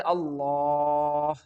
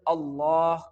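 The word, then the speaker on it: الله: in the whole Quran whenever the word Allah comes with duma and fatha on the letter lamb this word will get thick sound and we can pronounce it like all.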